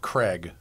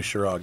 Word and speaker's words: Chirag: I think that's pronounced Craig. Craig, you think? I mean, it's C-H... I-R-A-G. Chirag.